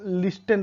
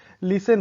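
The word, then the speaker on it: listen: लिसन, आप बचपन में मैं भी इसको लिस्टन पढ़ा करता था, लिस्टन सुनने के लिए, लेकिन ये लिसन होता है।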